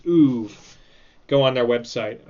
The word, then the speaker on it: oeuvre: I'm guessing they got tired of explaining like the soft R sound to people because that's just a French word for like someone's body of work, like an author's body of work. So they just told people to pronounce it as oeuvre.